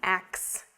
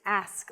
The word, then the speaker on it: ask: you a question but the pronunciation of ask should not be ax it's ask let me ask you a question i want to ask you something it's not ax it's ask ask yeah this one again